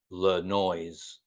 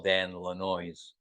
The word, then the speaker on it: Lanois: People don't know how to say it properly, and people call him Le Noise. And so Neil would always call Dan Lanois, the noise.